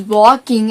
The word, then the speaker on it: walking: And it is not walking and talking, it is walking and talking. And the letter L is silent.